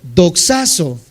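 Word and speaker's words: δοξάζω: D de dedo, O, X, A, Z, O y acento en esa O. Doxazo, glorificar.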